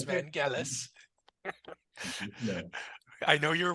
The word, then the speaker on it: Vangelis: And by the way, that is the proper pronunciation. It's not Vangelis, it's Okay. Vangelis.